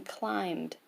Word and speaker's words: climbed: The B in climbed is silent.